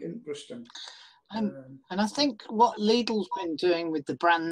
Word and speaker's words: Lidl: Sloan's commenting that I do not know how to pronounce Lidl. Lidl. It is Lidl.